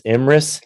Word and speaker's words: Emrys: And about Ruthanna, I've understood that I mispronounced your name. It's Emrys.